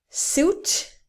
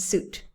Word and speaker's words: suit: quit my job okay suit is another uit word with pronunciation like flute fruit so biscuit circuit fruit liquid squid and suit the next ones that